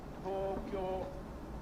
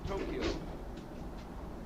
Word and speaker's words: Tokyo: Say Tokyo, not Tokyo. G is always hard as in go, never as in ginger.